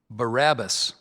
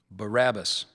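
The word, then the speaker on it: Barabbas: The word is Barabus.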